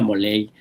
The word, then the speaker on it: Molay: Y pues ya, yo soy Moley más. Se escribe molay, se pronuncia moley.